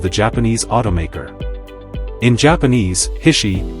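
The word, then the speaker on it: 菱: japanese automaker in japanese hishi or bishi as it is pronounced in this context means water chestnut which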